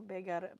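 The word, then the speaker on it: bøgare: It's B-A with 2 dots. G-A-R-E though. Begare. Begare. Begare. There we get a little bit better.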